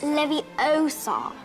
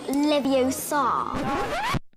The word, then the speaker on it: Leviosa: someone's eye out besides you're saying it wrong it's Leviosa not Leviosa where'd all your questions